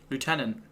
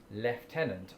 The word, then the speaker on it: lieutenant: Lieutenant. I don't remember ever pronouncing this the British way of lieutenant. I've always said, I think, probably not, lieutenant. Yeah, I've always said lieutenant.